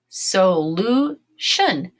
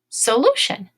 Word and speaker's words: solution: and say this ready oh so Lou so Lou shun solution solution is when you come